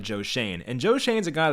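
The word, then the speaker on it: Joe Schoen: have joe shane i always thought it was joe shone my dumb ass but i actually just watched the video i saw it was joe shane so i wanted to nail that pronunciation so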